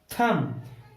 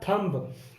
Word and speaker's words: thumb: अब इसमें एम और बी आया हुआ है, एम के तुरंत बाद आया बी और बी हम नहीं बोलेंगे, इसको रखेंगे हम साइलेंट। तो हम THUM सिर्फ इतनी ही ध्वनि निकालेंगे और THUM बनता है थम। थम मीन्स अंगूठा। अगर बी को इसके साथ मिला के बोलते तो ये बन जाता थंब, और थंब गलत होता है।